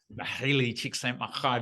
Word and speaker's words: Mihaly Csikszentmihalyi: Only bloke on the planet who can pronounce it properly. Mihaly Csikszentmihalyi.